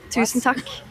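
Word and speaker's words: tusen takk: Tentac.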